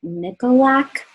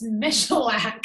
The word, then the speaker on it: Michalak: don't know her last, Nicolak, I want to say, but did I say it right? I've been saying it wrong. It's Michalak.